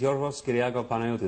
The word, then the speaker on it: Yorgos Kyriakou Panayotou: My name is Yorgos Kyriakou Panayotou. That's really how it's said.